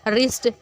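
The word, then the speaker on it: wrist: अब ये देखिए इसमें डब्ल्यू हमारा साइलेंट लग गया, रिस्ट अगेन इसमें भी डब्ल्यू साइलेंट किया, कलाई, ठीक है।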